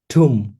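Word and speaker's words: tomb: তৈরি এটার উচ্চারণ কিন্তু টম না বাংলাদেশে 100 তে 100 ভাগ মানুষ এটা উচ্চারণ ভুল করে ভাবে এটা টম এটা টম না এটার উচ্চারণ ঠুম এই ব উচ্চারণ না টম না কিন্তু টমও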